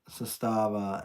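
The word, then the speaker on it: Zastava: I'm Romanian Sava Sustava M70. I have a Sustava M82 or 88. Sustava 88. Sustava or Cesta. Some people pronounce it susta and some people say sustava.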